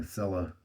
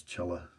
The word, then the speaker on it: Cella: pronounce it and so i have the habit of just saying sela so please for realize that if i forget and fall back to that habit the real pronunciation is chella and yeah this is